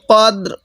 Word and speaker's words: القدر: দ্বারা গুণনা করব লাইলাতিল কদর ফি লাইলাত তিল কিভাবে পড়বো ফি লাইলাতিল কদ রটা হালকা করে উচ্চারণ করব দালটা পুরোপুরি উচ্চারণ করব তাহলে ইন্নাজালনাহু ফি লাইলাতিল